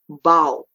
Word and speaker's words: bow: And the last column, rhyming with plow or how, is the word bow.